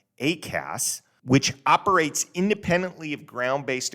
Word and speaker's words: ACAS: There is an airborne collision avoidance system, usually pronounced ACAS, which operates independently of ground-based equipment and air traffic control and warning pilots of the presence of other aircraft.